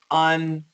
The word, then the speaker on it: uncomfortable: Do not, Americans rarely pronounce it the way it is spelled. It should be spelled like this. Uncomfortable.